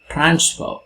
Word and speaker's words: transfer: For example, transfer. Here the stress comes in the initial position.